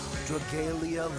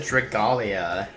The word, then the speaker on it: Dragalia: Dragalia lost. Oh, that's how you pronounce it. I always said Dragalia.